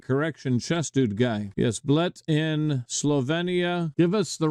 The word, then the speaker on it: Bled: Oh, it's pronounced Bled. I've been pronouncing it Bled. Makes sense. Pronounced Bled. Thank you for that correction, chess dude guy. Yes, Bled in Slovenia.